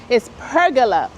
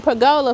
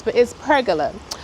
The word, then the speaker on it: pergola: Some people over on Facebook told me that I'm pronouncing it wrong. It's pergola. Pergola. Okay, I got it now. Pergola. Because I've been saying pergola for years, but it's pergola.